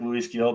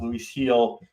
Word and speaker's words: Luis Gil: Looks like Luis Gil, but it's pronounced Luis Gil, pitching for the New York Yankees, both right-handers.